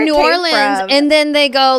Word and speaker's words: New Orleans: It's New Orleans.